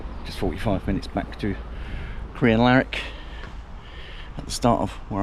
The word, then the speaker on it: Crianlarich: And there was a southbound and just 45 minutes back to Crianlarich at the start of where I'm going to start my walk.